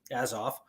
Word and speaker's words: Azov: can look it up a z o v as off um and it has